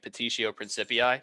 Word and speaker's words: petitio principii: It's called begging the question, but I always like calling it petitio principii because it sounds fun. The T, spell it? Petitio, so like petition, but take off the N.